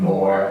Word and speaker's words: Moore: So if they Moore, were looking at you on LinkedIn, Moore, as in Moore.